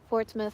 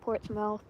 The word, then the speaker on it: Portsmouth: New Hampshire yeah it's Portsmith it's not Portsmouth cuz it's spelled Portsmouth but it's pronounced Portsmith I always do that